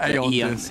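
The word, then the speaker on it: Aeon Disk: Yeah, Eon 730, Eon Disc removed from the game, Eon Disc pronounced Aeon Disc.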